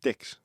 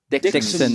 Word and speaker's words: Dixon: Your agency's called Dicks. Dixon. Oh, right, sorry. Sorry, Okay. that's my Geordie coming out.